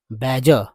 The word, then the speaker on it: badger: उच्चारण है इसका बैजर, बैजर, बैजर, BADGR, बैजर, बैजर, बैजर का हिंदी अर्थ जो होता है वो है दोस्तों लगातार तंग करना, है ना?